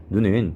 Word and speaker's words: 눈: 예를 살펴보겠습니다 이번에도 눈인데요 눈은 짧게 발음하는 것과 길게 발음하는 것의 의미가 달라요 눈을 눈하고 길게 발음하면 하늘에서 내리는 눈 스노우의 의미가 되고 눈을 눈하고 짧게 발음하면 사람의 신체 일부 즉 아이를 의미하게 됩니다 이 밖에도 말 말